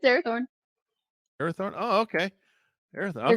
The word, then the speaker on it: Arathorn: It's Arathorn. Arathorn. Oh, okay. Arathorn. Okay. Aragorn, I was son of Arathorn.